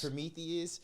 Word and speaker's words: Prometheus: what is it how do you say it pronounce prome Prometheus and then he makes gangster movies too like